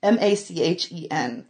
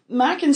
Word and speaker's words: Machen: there's Machen, oh, I can never pronounce his name. M-A-C-H-E-N. Okay. But it's Welsh, so I'm pretty sure it's Machen.